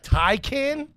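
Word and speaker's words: Taycan: A Thai can? Wait, how do you spell that?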